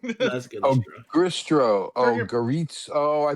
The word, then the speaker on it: Goristro: Yeah, you pronounced it. I just wrote it wrong. Yeah, I did too. So yes, a Goristro.